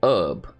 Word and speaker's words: herb: herb they say hub they pronounce the H sound so clearly when she's been given the script she's been told like yo pronounce it herb ah it's just like